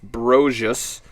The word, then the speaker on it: Brosius: Dylan Brosius, pronounced Brosius, the third B.